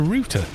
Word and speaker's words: router: german so yeah and a router routes data which is why we call it a rooter it is ridiculous oh